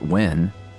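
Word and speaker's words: Nguyen: But I know that uh N G E N is pronounced Win.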